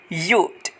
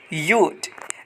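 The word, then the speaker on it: you'd: यू वुड का contraction और यू हैड का कंट्रैक्शन सेम होगा यूड। यूड। यानी कि यू का जो प्रोनाउंसिएशन होता है सेम वही प्रोनाउंसिएशन रख करके ड की हल्की सी आवाज़ लगा देनी है यूड।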